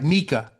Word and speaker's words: Miikka: All right, Miikka. Yes, Okay, great. that's a Okay, perfect pronunciation.